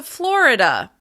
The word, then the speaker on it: Florida: Let's move on to Florida. Florida. As you can hear, Florida is also stressed on the first syllable.